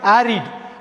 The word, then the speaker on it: arid: ஆரிட். ஆரிட். ஆரிடுனா வறட்சியான நிலம். ARID. ஆரிடுன்னு உச்சரிக்கணும், வேறு எந்த வகையிலும் உச்சரிக்கக்கூடாது.